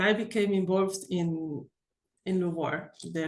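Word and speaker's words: LUVOIR: I don't know why we give it the the French touch when we pronounce it because really doesn't have to do anything with France but it sounds good H lar had two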